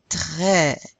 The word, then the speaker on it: très: And this one, how do you pronounce this? Accent grave? Eh. Eh, like the English word red.